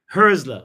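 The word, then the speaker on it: Hürzeler: that's how it's pronounced the umlaut, Yeah, you right? say it again? Husler. Herzler.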